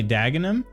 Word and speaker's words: Denham: me scroll back up it's spelled like Denham okay and you say dagam okay I guess I could see that I could see that based on like how Tottenham and and the others are pronounced at least you're relatively